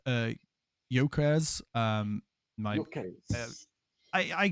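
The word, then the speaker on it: Gyökeres: So, um pronounced uh Yokres.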